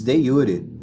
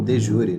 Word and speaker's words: de jure: epistêmicas né as objeções de Yuri ou de Jure né uma pronúncia mais em português dessa palavra em latim então nas objeções de